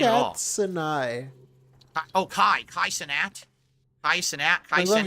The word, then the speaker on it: Kai Cenat: Kai Cenat? How do you say his name? Wait, say it again. Cenai? Kai Cenai.